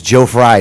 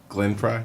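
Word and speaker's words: Glenn Frey: like George W bush did I even get the name right I might have got the name wrong you didn't I don't think you got the name right from the eagle Glen Fry Glen Fry that's what it is Glen Fry Gren Glen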